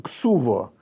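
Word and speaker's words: כתובה: Это документ, брачный контракт, как на нем написано в самом низу «ксуво», да, в ашкеназском произношении.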